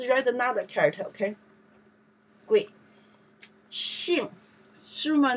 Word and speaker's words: 姓: Xing, summer name, last name.